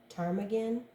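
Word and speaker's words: ptarmigan: i g a n Tagan the white tailed Tagan I'll turn it up right and you can take a look I think the p is silent all right so frustration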